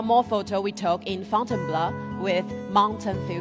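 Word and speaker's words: Fontainebleau: So after Paris, Paul took me just outside the city to a forest park for called Fountain Blur. This is how he taught me to pronounce to try out our mountain filter.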